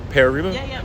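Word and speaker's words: Pere Riba: hired a new coach Pierre how do you pronounce his name okay um pearba um is that pear reboot okay um can you talk a bit about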